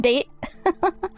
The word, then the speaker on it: Date: pronounced her name as Date? Yeah. I thought it was pronounced date initially, but I knew it was Date from playing it before this time, so I